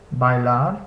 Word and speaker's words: bailar: So we see this combination in words like bailar, meaning to dance, and aire, meaning air.